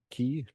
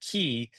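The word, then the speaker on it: cay: Did you do you ever stop in Hawkville K key? I don't want to say K because it's spelled K, but it's key.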